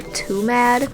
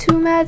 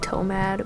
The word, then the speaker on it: TWOMAD: of the content creator too mad I'm pretty sure it's supposed to be pronounced too mad some people are saying to mad but like too mad makes sense Ow like you're too